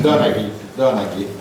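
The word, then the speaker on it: Donoghue: John Donogh and collaborators, and not only John Donahue or Donogh, I don't know what is the correct pronunciation. Donaghy.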